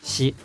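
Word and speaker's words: 四: luck in the states the number four in Japan is either Yong or sh and she has the same pronunciation as death she it's for because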